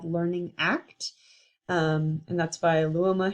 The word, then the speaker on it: ACT: deeper here in summary act is pronounced act not a ct because it's ultimately behavior oriented the goal is mindful